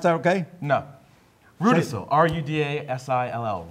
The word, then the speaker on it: Rudasill: Rudasill. R-U-D-A-S-I-L-L. Ru, as in like, you know, Kanga and Ru. Rudasill.